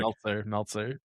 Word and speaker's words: Meltzer: Did I get it right? No. No? Meltzer. Nice. Okay, perfect. Meltzer.